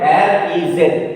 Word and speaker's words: riz: R-E-Z. R-E-Z. Re. Re. Because this is silent.